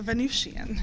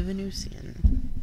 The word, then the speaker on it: Venusian: goddess of love the Venusian Oh with an S in Venusian it's like Venetian it's it's pronounced both ways but it's spelled with